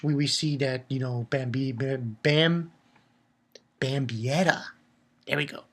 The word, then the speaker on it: Bambietta: Okay, pretty much we see that, you know, Bambietta. There we go. Bambietta.